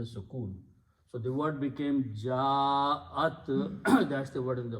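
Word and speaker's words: جَاءَ: And also the rule is that when you have a Hamza and there is a alif before that, in the tajweed you put a mad there and pronounce ja'a.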